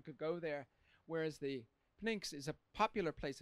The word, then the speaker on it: Pnyx: So I have a picture here of the Pnyx in, is that pronounced correct?